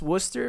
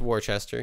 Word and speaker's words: Worcester: actually i was in uh i was in worcester massachusetts yeah yeah it's pronounced worcester but it has like eight extra letters for no reason it's worcester yeah you know uh i kind of feel